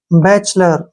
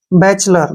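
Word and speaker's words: bachelor: सी एच से च ठीक है ई का उच्चारण नहीं होगा एल ओ आर यानी कि लर बैचलर क्या पढ़ेंगे इसको बैचलर बैचलर मीन क्या होता है कुवारा क्लियर बैचलर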